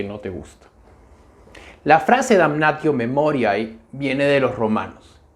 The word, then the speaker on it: Damnatio Memoriae: El tema del que voy a hablar hoy es Damnatio Memoriae, o para satisfacer a los que prefieren la pronunciación eclesiástica de la palabra sería Damnatio Memoriae.